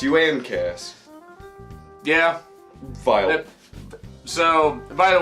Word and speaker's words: Uncas: It's pronounced Uncas.